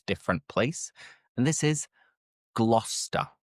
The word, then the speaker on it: Gloucester: Moving on to the third different place and this is Gloucester. Gloucester. And again, what you're probably thinking is glue, but forget the cester because it's just glouester glouester.